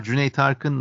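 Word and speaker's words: Cüneyt Arkın: way the name of the Turkish action star Jun Tarin let me spell it for audiences it's c n e y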